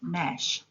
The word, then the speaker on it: gnash: G is a silent letter in the word gnash.